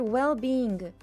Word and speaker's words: well-being: Key pronunciation pattern adding a hard G after NG in the word well-being. Ah, you added a slight G sound at the very end.